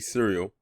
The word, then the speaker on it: Sereal: whose name is Sereal. It is actually cereal, not like the food cereal. It's spelled with a S instead of a C.